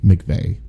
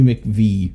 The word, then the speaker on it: McVie: Tommy Wheelchair McVeigh, not to be confused with Timmy McVeigh, which I don't know who that would be. Well, it's Tommy McVie.